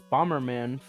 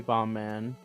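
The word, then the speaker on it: Bomb Man: Even though it's written in katakana as Bomberman, phonetically, it's supposed to be Bombman.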